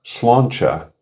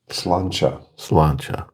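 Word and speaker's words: Slàinte: Believe it or not, Google's AI overview says it's pronounced Slancha. Slancha. Sounds like some kind of a breakfast sausage. The T is more like a CH.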